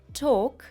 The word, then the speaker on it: talk: таких слів да воно пишеться але воно не читається і також Walk Walk Talk Talk і на добівочку semon сеon це в